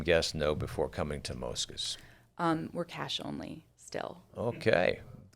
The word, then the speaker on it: Mosca's: The family refers it as Mosca's. The family says Mosca's. What's the difference there? Well, the change? Mosca in both Italian and Spanish means like mosquito or fly. So that's the pronunciation of the word. But in New Orleans, everyone says Mosca's, which Mosca's, that's darling. fine with me.